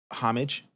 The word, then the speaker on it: homage: Hey Siri, how do you pronounce homage?